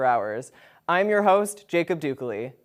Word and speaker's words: Ducol: I'm your host Jacob Duke Lee no it's not pronounced like e.coli not broccoli not Picardie Duke Lee you're gonna forget that